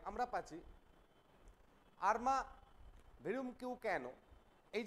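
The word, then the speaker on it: Arma virumque cano: দেখো এই যে আমরা পাচ্ছি আর্মা ভিরুম কিউ ক্যানো, এই যে ফ্রেজটা পাচ্ছি, এটা কি না একটা ল্যাটিন ফ্রেজ। তাহলে দ্য এনেইড, এই দ্য এনেইড এর ফার্স্ট লাইন কি ছিল না, আর্মা ভিরুম কিউ ক্যানো।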